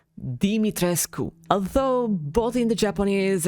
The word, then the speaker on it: Dimitrescu: is actually a real romanian surname and it's pronounced dimitrescu although both in the japanese and english version